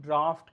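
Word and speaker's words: draft: यहाँ ओ आता है, इसको हम ड्राउट कहते हैं और इसको हम ड्राफ्ट कहते हैं, इसको याद कर लेना। इसको हम ड्राफ्ट कहते हैं, इसका बोलने का प्रोनाउंसिएशन बिल्कुल अलग है, वो ड्राफ्ट नहीं है, ड्राफ्ट है पूरा, और वो ड्राउट है, ठीक है।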